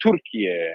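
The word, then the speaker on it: Türkiye: them Turkey anymore, but we should call it Turkiye and pronounce it with the two dots on the U.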